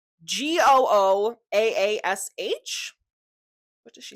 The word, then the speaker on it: gouache: So I've just looked up how to pronounce gouache paint on Google, and as you can see here, it sounds like Gooaash.